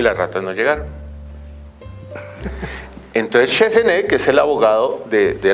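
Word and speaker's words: Chassenée: Así me dijeron que pronuncia, Chesenet.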